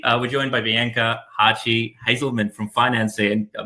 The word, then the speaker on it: Hartge-Hazelman: we're joined by bianca hachi hazelman from financing i still feel like i should be pronouncing it the german way but you got it